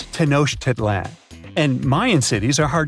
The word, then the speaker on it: Tenochtitlan: It's Tenochtitlan. And Mayan cities are hard to pronounce, too.